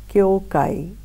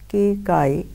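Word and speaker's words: Kyōkai: His name, which comes down to us, is Kyokai. Some pronounce it as Keikai.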